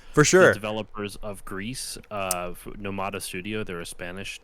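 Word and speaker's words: Gris: It's a hard S. Okay, because in French, I just now realized from listening to them that they're Spanish, but I always thought it was French because it's gray in French, but you don't pronounce the S. Anyway, Grease in Spanish, you do pronounce the S. Grease.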